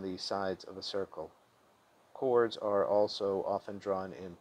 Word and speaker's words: chord: chords at their intersection a chord pronounced k-o-r-d and parenthesis not chord is a line segment